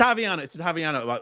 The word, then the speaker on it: Ottaviano: It's Ottaviano. I've spent a lot of time remembering how to pronounce Bob's last name.